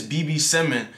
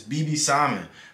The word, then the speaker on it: B.B. Simon: tell me that it's BB Simon BB Simmons sounds stupid it doesn't even have an S it's not even plural come on now say